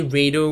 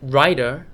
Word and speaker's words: Rider: do want to know it's really right Ryder Ryder like you're writing something Ryder wait Smith okay so that's just